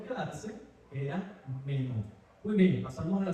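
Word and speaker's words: μένω: El verbo se pronuncia, como ustedes ven ahí, meno.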